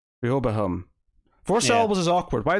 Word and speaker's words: Rehoboam: is three of them REO boom real boom it's four syllables I think REO boom Rehoboam for Sheryl was awkward